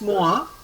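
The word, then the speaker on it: mois: But this Moa means month. Moa means month. Okay. How to pronounce this?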